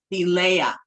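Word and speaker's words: Thelema: Um and then of course the holy books of um the the uh of thema which is also known as thea is how you're supposed to say it.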